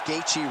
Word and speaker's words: Gaethje: And still the undisputed UFC lightweight champion of the world, Justin, the highlight, Gachi. All right, so you heard it there from Bruce Buffer. He even pronounced Gatei, right?